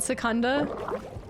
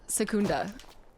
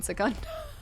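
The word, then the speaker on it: Secunda: I think it's pronounced Sakunda. Okay, that Yeah, I think it might be the way that I'm Yeah, Sakunda makes more sense than Sikun.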